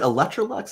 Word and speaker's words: Electrolux: life updates are you still uh is it electrolux is that how you say it yes that's